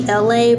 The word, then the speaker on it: Elay: It's me, Elay, pronounced like LA, like the city.